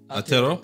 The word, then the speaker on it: Aotearoa: Aotearoa?